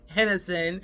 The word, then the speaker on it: Henderson: I came all the way back here to my little town of Hennison called Henderson. They pronounce it Hennison, but um to find